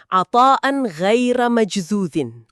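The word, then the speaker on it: عطاء غير مجذوذ: Dalam bahasa Arab, frasa itu bunyinya atan ghaira majdzudin. Dibacanya atan ghaira majdzudin. Oke.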